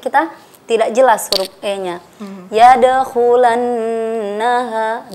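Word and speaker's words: يدخلنها: Yadkhulannaha, di situ ada nun tasydid. Nah, dan nun tasydid disebut dengan wajibul gunnah. Wajibul gunnah, wajib dengung. Jadi kita cara membacanya itu ditahan 2 harokat atau 1 kali ayunan.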